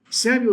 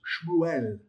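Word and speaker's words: שמואל: Samuel is not Samuel, it's Shmuel.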